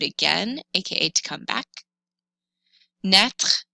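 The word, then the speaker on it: naître: you do it again aka to come back net rhymes with et if you have trouble pronouncing it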